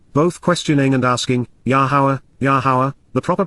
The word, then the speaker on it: Yahowah: father responded Amar said both questioning and asking yahwah yahwah the proper pronunciation of the name of yahwah our eloah